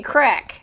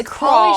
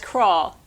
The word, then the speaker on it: Crawl: They keep getting his name wrong. Hey, Crack. Hey, Crack. Hey, Crotch. Hey, Crab. And everyone corrects them. Nope, it's Crawl. Pauly Shore. It's Crawl.